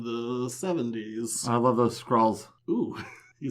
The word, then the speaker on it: Skrull: I love those Skrulls.